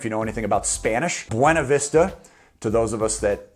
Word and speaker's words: Buena Vista: be in an area known as Buena Vista to the locals which is obviously pronounced wrong if you know anything about Spanish Buena Vista to those of us